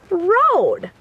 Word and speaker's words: road: get it and here we have the word Road two vowels are walking together and the first